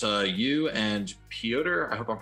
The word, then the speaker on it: Piotr: So the Join the Future trade paperback, it's you and Piotr, I hope I'm pronouncing that right, Kowalski. Peter.